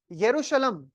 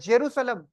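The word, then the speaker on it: Jerusalem: सी मस् केवा अल एक्चुअली यरूशलम या जेरूसलम को ऐसे भी प्रोनाउंस कर सकते हैं आप क्योंकि हिब्रू में अलग जाता है प्रोनंसिएशन हिब्रू लैंग्वेज कौन बोलता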